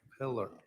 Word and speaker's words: Pillar: Polar. Detective Polar. Uh on I always say your name wrong. Pillar. Pillar.